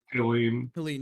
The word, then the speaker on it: Helene: Is it Elaine? Is that how you say it? Helene, yeah. So Hurricane Helene, they finally said something about it, and she posted this image.